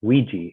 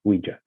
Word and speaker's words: Ouija: for the note on the reason why we pronounce it ouiji instead of ouija very interesting and james